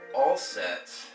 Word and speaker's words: Auset: set quite regularly and all sets is amazing she's the mother for me I pronounce all set as if I'm doing okay I'm calling out to